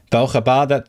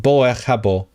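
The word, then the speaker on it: ברוך הבא: Baruch haba, that is literally Hebrew. Baruchim ba'im. How do they pronounce it? Boech habo. That's crazy. Yiddish does some weird shit to the vowels.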